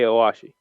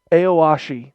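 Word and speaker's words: Aoashi: of that uh the soccer one that i mispronounced eight consecutive times when we were talking with christian the other day hey owashi aoshi there we go yeah yeah that show that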